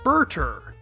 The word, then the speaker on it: Burter: Funimation's dub, however, calls him Burter, which I'd say is still in the ballpark. If I tell you his name is based on butter, you can definitely see the influence there. They drift away from Toriyama's alteration by keeping that buttery er sound at the end.